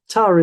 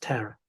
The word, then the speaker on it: Tara: Um, Tara in the UK, I think it would be pronounced terror in the US.